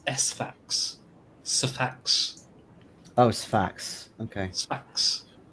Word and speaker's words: Sfax: It's Sfax.